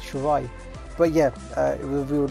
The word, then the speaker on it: Shirai: Can they pronounce Shirai? It's Shirai.